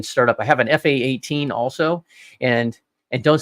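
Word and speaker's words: F/A-18: to have a talk don't say F-18 it's an fa 18 it's a fight attack 18 team I hate it when people say it wrong sorry I'm former U.S military say it right but yeah that that's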